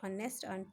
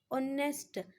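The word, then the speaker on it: honest: अब एच है, एच किस साउंड में आता है, कॉन्सोनेंट में आता है एच, बट यहाँ पे ये साइलेंट है, प्रोनाउंस नहीं है हम इसको कर रहे हैं, हम प्रोनाउंस्ड ऑनेस्ट, हम जब प्रोनाउंस कर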